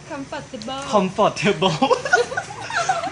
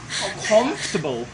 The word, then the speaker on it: comfortable: คำ ว่า อะไร เอ่ย ตอน แรก ออก ว่า Comfortable T ฟัง ดู แล้ว มัน ก็ ขำ กุ่ม กิบ กม กิบ ตาม จริง มัน ไม่ ได้ ออก อย่าง ง นี้ นะ ครับ มัน ออก เสียง ว่า Comfortable Comfortable ดู ฟัน ครู เอ